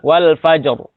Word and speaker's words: Al-Fajr: Cuman sempat agak bertanya-tanya kok ketika membaca surat Al-Fajr, beliau membacanya dengan ro-nya tebal. Wal fajr. Oh, ternyata dalilnya tadi itu.